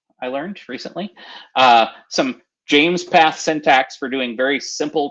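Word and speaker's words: JMESPath: kafka delta ingest provides some or actually it's pronounced james path i learned recently uh some james path syntax for doing very simple transformations on the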